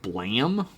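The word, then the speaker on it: BLAME!: Um, Bla, which is apparently pronounced Blam.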